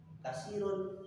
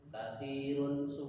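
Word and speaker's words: كثير: Kalau kita bacanya kasirun, katirun semuanya hampir sama suaranya sama tapi perlu diperhatikan kalau bahasa katirun pakai itu artinya banyak. Tapi kalau pakai kasirun ditanya kasirun niku artinya pecah.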